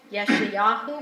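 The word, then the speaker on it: ישעיהו: Yeshayahu, when I say it right.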